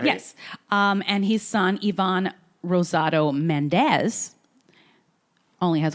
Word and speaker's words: Ivan: Let's go with somebody named Ivan, spelled Ivan, pronounced Ivan, Miguel Rosado Rivas.